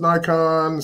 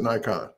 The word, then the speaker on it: Nikon: It's we in the United States pronounce it Nikon, but everywhere else in the world is Nikon.